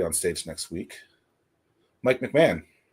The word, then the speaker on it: McMahan: It's usually pronounced McMahan, but that's really roll with it. Yeah, McMahan.